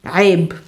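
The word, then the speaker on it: عيب: This word is pronounced, there's a ayn, there's a ya, there's a b. This is the word aib.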